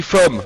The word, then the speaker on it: femme: D'ailleurs, il il y a qu'à voir comment ça s'écrit femme ça s'écrit avec un e et pourtant ça se dit femme avec un a.